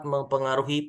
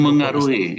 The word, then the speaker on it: memengaruhi: Rahmawati tahun 2017 menjelaskan bahwa Pengaruh eksternal seperti budaya sosial dan ekonomi dapat mempengaruhi penerapan rukun Islam. Memengaruhi, itu sudah benar itu tulisannya, bacanya yang salah.